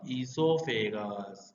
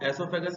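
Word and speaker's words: oesophagus: यहाँ पे ईसोफेगस मैंने बोला, कई लोग ओ लिखते हैं, कई लोग ओ नहीं लिखते। Basically O is silent. ओ कैसा है? साइलेंट है, इसलिए उसको एसोफेगस भी बोल सकते हैं, ईसोफेगस भी बोल सकते हैं।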